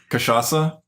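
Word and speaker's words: Cachaça: It's a song from DDR Supernova, and How do you pronounce it? Cachaca.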